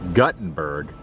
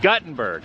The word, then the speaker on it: Guttenberg: of Gutenberg truck and he said it's pronounced Guttenberg but I'm going to